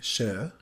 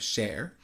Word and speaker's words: Cher: My name is It's incorporating the mispronounced name being Sh instead of Sher.